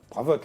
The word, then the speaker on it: Bravot: Alors, ce fameux Daniel Bravo. Bravotte, le T se prononce, hein.